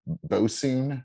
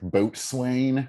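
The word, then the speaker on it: boatswain: don't make any sense like that word boson yes it's like boat swain yeah you get a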